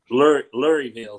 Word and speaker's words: Louisville: If you can pronounce Louisville right, you're a Kentuckian. Luryville is what I say.